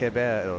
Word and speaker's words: Ribeiro: So you're learning your Portuguese, how you don't pronounce the R when it's first in the Portuguese language. It becomes almost an H sound. Ribeiro, yeah.